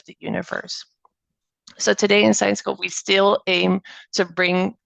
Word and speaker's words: Syensqo: you might be wondering what how do I pronounce this so it's science Co and actually the main takeaway here is that